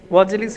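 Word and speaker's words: وأجلس: ওয়া আজলিসহু, এবং ওয়ের পরে আলিফের মূল্য থাকে না, ঠিক আছে? আলিফটা উচ্চারণ হবে না, ওয়াজলিস হয়ে যাবে, ওয়াজলিস। যদিও শব্দটা ওয়াজলিস হয়, বাট ওয়াও আসার কারণে হামজার উচ্চারণ থাকে না।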